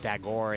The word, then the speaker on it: DAGOR: I think it's pronounced Dagor instead of Dagger, my bad.